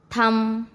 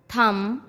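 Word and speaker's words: thumb: एम के बाद यदि बी आता है तो बी साइलेंट होता है।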